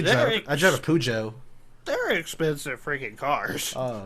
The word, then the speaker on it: Peugeot: Oh, it's French. Peugeot, I guess. Yeah. Pigeon? Yeah. Peugeot. That's Peugeot. I have confirmed it's Oh, Peugeot.